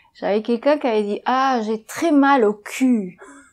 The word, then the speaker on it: cul: Par exemple, confondre le U et le OU, ça peut devenir embarrassant. J'avais quelqu'un qui avait dit « ah, j'ai très mal au cul ».